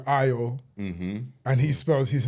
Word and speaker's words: Ayo: So then it's like, ah, I say AO now so that people spell it correctly. Like a Y O. You say between the two. Yeah, exactly. That's why like I'd say AO even though my name is actually IO.